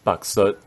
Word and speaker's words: Baizhu: Baizhu becomes Baksut.